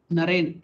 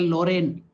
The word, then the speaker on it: Narain: by his pre-monastic name, Narain. He couldn't pronounce Narain, he would tell Lorraine. He couldn't pronounce properly Narain. He used to call him Lorraine. But with his Bihari accent, Latu pronounced it as Lorraine.